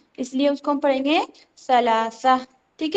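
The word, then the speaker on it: ثلاثة: क्योंकि सा का जो मखरज है वो थोड़ा सा हमें लाइट सुनाई देता है। है ना? इसलिए उसको हम पढ़ेंगे सलासा।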